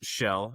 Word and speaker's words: Kjell: My name is Shell as you said which is it's spelled a little interesting.